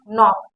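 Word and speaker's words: knock: देखिए हमेशा, देखिए कोई भी वर्ड आप उठा के देख लीजिए, जहां पर के बाद यन आया वहां पर के साइलेंट हुआ। जैसे नाइफ, नॉलेज, नो, नी, नॉक, यहाँ पर के साइलेंट हुआ।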